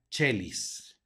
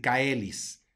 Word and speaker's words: caelis: siguiente palabra con subrayado tenemos una ae que hace un diptongo por lo tanto va a sonar como e y la se va a sonar como Che se pronuncia chelis te vayan a decir caelis chelis luego la siguiente palabra